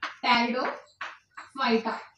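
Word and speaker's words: Pteridophyta: Here P is silent, तो क्या बनेगा हमारा टेरिडोफाइटा।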